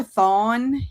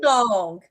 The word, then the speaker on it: thon: And all of us here can attest to that because that's we thon, all, not thong. Not thong. Not thong. No, Not wearing thong. thong. That rhymes with song, but Yeah.